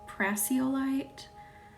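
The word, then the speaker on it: prasiolite: I think it's technically pronounced like praseolite.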